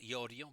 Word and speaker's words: Iorio: My surname is pronounced Iorio, by the way, but if you mispronounce it, it's perfectly okay.